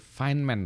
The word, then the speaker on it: Feynman: tahu jauh ini tulisannya Oh feynman itu finman tapi tulisannya FB YM Advan kok selalu feynman